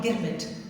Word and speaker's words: girmit: So the contract was called an agreement, but since they couldn't pronounce the word agreement, they used to call it girmit. Girmit, and therefore the literature of the of the Girmit is written in Girmitia.